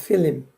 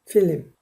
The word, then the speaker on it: film: Give me a roll of film. 그랬어요. 이게 필름 한 통 달라고. A roll of film. 필.